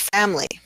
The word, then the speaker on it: family: And then we have the word family. So in this word, we don't typically say the I in family.